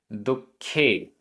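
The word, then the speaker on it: दुक्खे: दुखे, दुखे आधा क ख, दुखे। णज्जै, णज्जै आधा ज पूरा ज, णज्जै।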